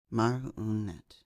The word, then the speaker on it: Marinette: The Particular Abilities of Marinette and Her Discovery of Them by Plants Are Fun 06, a Miraculous Ladybug and Batman crossover fanfic. Marinette, pronounced Marinette, name meaning failure, nuisance, waste of space, insurance.